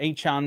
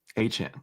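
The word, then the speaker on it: Achane: I don't know about Achan there either. What's the correct pronunciation? Somebody said I've been pronouncing Achan's name wrong. You did it right the second time. H-Chan. Yeah, that was right. H-Chan.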